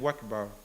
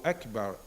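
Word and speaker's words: أكبر: So then he might find that over time he's saying Wakbar instead of Akbar. He needs to say Allahu Akbar. The Hamza is apparent.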